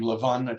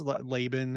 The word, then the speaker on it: Laban: father-in-law uh tricked him we pronounced his name Lavon I'm not sure how the name is just Laban I think we just